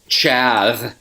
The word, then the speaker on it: Chav: My name's Chav. Chav? Chath. Chav. Chath? Chav. It's like maybe his name was Charles when he was a kid, and his brother pronounced it Chaz. Chaz. I hate that name, but yeah, Chaz. But it's not it's the Chav.